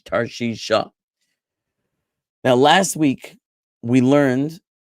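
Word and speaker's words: תרשישה: It goes together with the hey. It's an sound at the end of the word Tarshish, Tarshisha.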